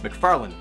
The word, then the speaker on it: McFarlane: I call him Todd McFarlane by the correct pronunciation from now on. McFarlane, McFarlane, McFarlane.